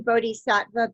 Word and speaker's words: bodhisattva: japan is that how um are you saying buddha vista that's how i've pronounced it but are we saying i'm saying bodhisattva b-o-d-h-i-s-a-t-t-v-a okay did they believe that that's what